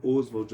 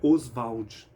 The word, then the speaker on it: Oswald: então ele fala que a pronúncia na época era osvald o pessoal lá falava osvald essa pronúncia com ênfase na vogal Inicial Oswald ela é depois da morte do Oswald Olha que interessante ele era chamado de Oswald e não Oswald interessante esses detalhes né